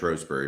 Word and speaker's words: Shrewsbury: charles darwin's home town of shrewsbury yes pronounced rosebury by the way like sometimes rfm you